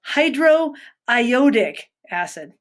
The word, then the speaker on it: hydroiodic acid: So again, hydro, and then it's iodine in here and ick. So hydro, IODIC. There you go. Hydroiodic acid.